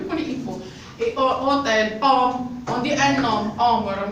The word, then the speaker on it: homme: Et hôtel, homme, on dit un homme, homme. Qu'est-ce que c'est que je peux H, mais ne prononce pas.